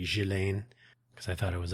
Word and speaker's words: Ghislaine: I don't know what her American prison status is or was, but the British pronunciation, is indeed Ghislaine Maxwell.